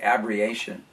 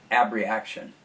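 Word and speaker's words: abreaction: it and in fact abriation ab reaction yes i'm sorry i said it wrong every action is the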